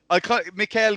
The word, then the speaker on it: Michele: genuine a yes and Michelle perfect Mikael cuz it sounds like Mikael Victor from resin evil 3 we'll go with that